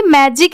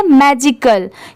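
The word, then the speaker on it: magical: वह ऐसे वर्ड्स को देख के इसे भी मैजिक ही पढ़ देते हैं। बट वो रॉन्ग होता है। इसे क्या पढ़ेंगे? मैजिकल।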